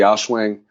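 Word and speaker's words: Aochuang: 5x5 comparison video between I believe it's pronounced the Auschwang GTS 5, the Yush Little Magic, and the Volk 5.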